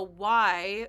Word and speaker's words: Wye: But in fact, a Y, which is spelled WYE, is a type of railroad junction.